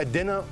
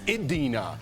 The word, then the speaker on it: Idina: Coming up on DBL, our interview with Adina Menzel. I didn't even do that on purpose. I was trying to say it right. I was just going to go with Idina, and everyone's like, it's Idina.